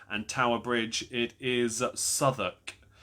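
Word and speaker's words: Southwark: It is Soduk. It's spelled South Walk, which has stupidly tripped me up before, but it is Soduk.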